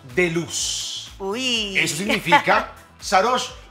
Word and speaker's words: Sarodj: Sarosh. Se escribe S-A-R-O-D-J, pero no soy DJ. La DJ es solo parte de mi nombre y el significado es así, primer rayo de luz.